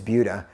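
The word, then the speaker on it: Buda: couple people we have one called budha the pronunciation is budha you guys like to come in town and say Buddha another one is Sam Marcus or you guys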